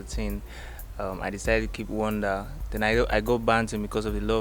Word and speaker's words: 1Da: But it's like Wonda's a figure Da. That's 1Da Banton, but it's still pronounced as Wonder, like Wonder.